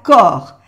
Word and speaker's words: corps: Aquí solamente se pronuncia corps, el P y la S no se pronuncia, le corps.